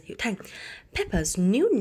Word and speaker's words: Peppa's: Peppa's, cái chữ s này là sở hữu cách và chúng ta sẽ đọc nó là z, bởi vì ở trước